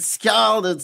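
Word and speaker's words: Skål: Freaking Skald, that's how you say it in freaking Danish.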